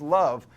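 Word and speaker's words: Loew: 16th century Jewish ghetto named rabbi love l OE w pronounced love wanted to save the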